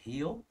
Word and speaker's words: Híu: So obviously the name Híu is pronounced Híu in the southern accent.